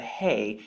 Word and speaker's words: Hey: It's the Hey and it's the fifth letter that's found in the Hebrew alphabet. Now, when you look at this, it's actually pronounced like the Ah or Hah.